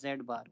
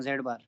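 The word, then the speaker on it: z̄: We read it like this, z bar. Okay. This is the pronunciation, z bar.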